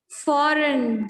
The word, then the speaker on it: foreign: Foreign, G is silent.